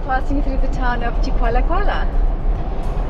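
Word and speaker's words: Chikwalakwala: And we are passing through the town of Chikwala Kuala. And that's how you say it, not Chiki Chiki Chikawaka, Chikwala Kuala. That's the right way.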